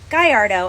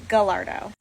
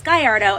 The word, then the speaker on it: Gallardo: Italian automotive manufacturer but the model name Gallardo is actually named after something Spanish which is why it's Gallardo and not the Italian Gallardo like my little Italian